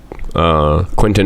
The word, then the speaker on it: Quentin: And Quentin is also the normal pronunciation.